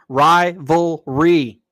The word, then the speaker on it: rivalry: Rivalry. Three syllables. It ain't that hard, man.